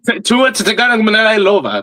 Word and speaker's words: Tua Tagovailoa: Tua Tagovailoa. There you go. That's how you actually pronounce his name.